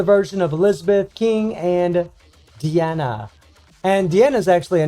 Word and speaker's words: Diane: because, you know, in English, whenever we see D-I-A-N-E, it's Diane, or maybe Diana, although usually there's a A at the end of it. But it's Deanna is actually how they were pronouncing, so that's